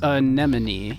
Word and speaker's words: anemone: And please note that it is pronounced anemone.